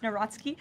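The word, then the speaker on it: Nawrocki: He met with Carol Naraki, if I'm pronouncing that correctly. Yes, Natsky. Uh, okay.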